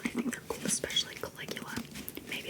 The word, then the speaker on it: Caligula: I feel like they have the same vibe, but Caligula, like a K.